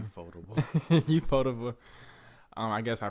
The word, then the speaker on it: Ufotable: I don't want to pronounce it wrong. Ufotable.